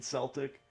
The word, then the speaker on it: Celtic: I think technically probably Celtic is more correct than Celtic, but who the fuck knows at this point?